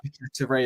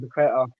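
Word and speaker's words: Paquetá: But what he did mention was about how good Paqueta is and the link up with him and Emerson and that real bond.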